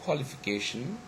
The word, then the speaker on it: qualification: at the third example word qualification is the same thing okay if we just conclude it actually it's the last syllable okay location which is actually stressed okay stronger than anyone else here so it has got the primary stress and the first syllable is uh also straight but it is that is actually secondary stress okay i hope it's